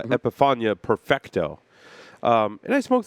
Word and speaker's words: Epifania: NL Premier Mundo epip did I say that right epep epia epia epiphania thank you I wrote it right I said it wrong uh epifania Perfecto um and I